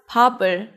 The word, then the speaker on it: 밥을: You read it as 밥을. 이응 is just the placeholder, so when there's bottom right before 이응, the sound of the bottom moves to the next syllable.